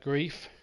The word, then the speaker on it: Greif: The ball goes back to Grief. Grief with the kick, and that is spelt Greif, by the way.